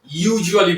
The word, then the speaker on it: usually: আমরা এটাকে সাধারণত ইউজুয়ালি বলে থাকি। এর সঠিক উচ্চারণটি হবে ইউজুয়ালি।